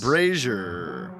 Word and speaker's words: brazier: Brazier rhymes with Frasier.